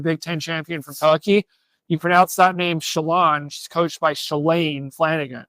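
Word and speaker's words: Şilan: So I think between Shalane Eildiz, we learned that's how you pronounce her name. The top runner from Oregon, the Big Ten champion from Turkey, you pronounce that name Shalane.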